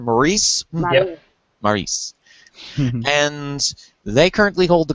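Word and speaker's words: Maryse: The Miz, with his wife, what's her pronunciation? Maurice? Yep. Maurice.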